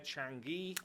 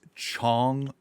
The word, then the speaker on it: Chong: Anyway, it's not Chang, it's Chong, which is such a weird like maybe if you wouldn't have ever experienced that E sound, you wouldn't know.